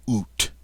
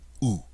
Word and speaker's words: août: Now, in some parts of France, you will hear it pronounced août, but in Paris, août, and that means August.